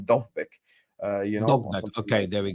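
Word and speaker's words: Dovbyk: Because this article right here that you've put up with, I think someone said in the chat, apparently pronounce his name Dovbik. You know, okay, there we go. Dovbik, yeah, apparently.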